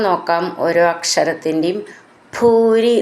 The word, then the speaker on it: ഭൂരി: ഭൂരി എന്നുള്ളതിൻ്റെ ഭൂന്ന് നന്നായിട്ട് ഊന്നി പറയണം.